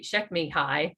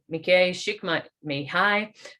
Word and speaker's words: Csikszentmihalyi: So Mihai Csikszentmihalyi, and when you see his name, you would never pronounce it that way.